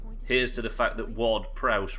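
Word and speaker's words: Ward-Prowse: to the fact that ward prowse rhymes with i would have done the house yeah there's nothing in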